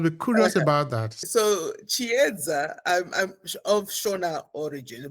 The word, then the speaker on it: Chiyedza: Chiyedza, try to pronounce it correctly.